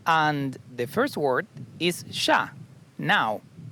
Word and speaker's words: ya: And the first word is sha, now.